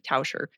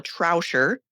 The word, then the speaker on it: Tauscher: be my name cuz my last name's Touser. Nobody can say it, spell it, remember it. My mom, I've been married almost 30 years, still says Trouser. There's no R in the beginning.